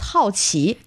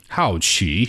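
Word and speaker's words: 好奇: And the word curious in Chinese, by the way, is 好奇. 好奇. Yes, 好 is like another pronunciation of 好, good.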